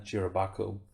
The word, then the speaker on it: SHIROBAKO: You binge or bail on SHIROBAKO?